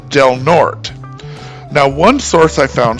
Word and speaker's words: Del Norte: Now this one looks like it should be easy, and it is, but the E in Norte is silent, so it's pronounced Del Norte.